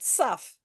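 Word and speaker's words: תו: this letter is called tough some people call it sufff so um this letter is the last and its numerical value is 400 and it makes the same sound as the letter T which um which also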